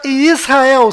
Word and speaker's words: Israel: Então a pronúncia correta desta palavra é I, S, Ra, El. Aqui está localizado Israel no mapa. E aqui está Israel sendo vista da Estação Espacial Internacional.